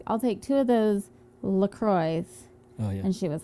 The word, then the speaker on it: LaCroix: croix guys it's a lacroix and then our friend goes look on the website it says lacroix sounds like enjoy or something yeah so whoever that